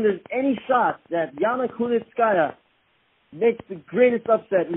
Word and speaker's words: Kunitskaya: Saying that right, Yana Kunitskaya. You did say it right.